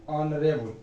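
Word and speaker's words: honourable: ही इज एन ऑनरेबल, अ का उच्चारण आता है, ऑनरेबल मैन, ठीक है, तो आपका आंसर डी हो जाएगा, ठीक है।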